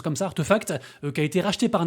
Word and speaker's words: RTFKT: Et ce qui par contre est moins une réussite, c'est bien sûr l'entreprise RTFKT, donc Artefact, ça se prononce comme ça, Artefact, qui a été racheté par Nike.